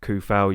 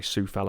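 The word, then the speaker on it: Coufal: got cresswell you've got koufel you've got oh sorry sue fell i think it's pronounced you've got soy check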